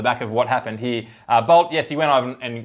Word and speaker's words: Bolt: Now, it's not Bolt, it's Bolt.